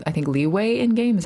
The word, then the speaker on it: Liyue: the Liyue map names are really hard to say usually, right?